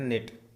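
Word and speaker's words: knit: नो, नो का मतलब यहाँ पर के साइलेंट है। यहाँ पर भी ऊपर भी निट में भी के साइलेंट है, नील में भी के साइलेंट है। के नहीं बोलना आपने को।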